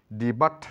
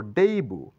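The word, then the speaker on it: debut: crochet মানে ক্রুশ শিল্প ডিবাট নয় এটা বলবো ডেইবু ডেইবু মানে উদয় এখানে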